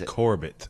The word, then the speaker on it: Corbett: So, so when we had we had Steve Corbett Corbett on um I don't want to say his name like French. He It's Corbett.